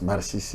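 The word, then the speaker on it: Masisi: Bon, là, ça j'ai prononcé comme on le dit à Kinyarwanda. C'est comme ça qu'on prononce Massissi, Nirangongo, Nirangongo, Rutshuru. C'est comme ça qu'on prononce à Kinyarwanda.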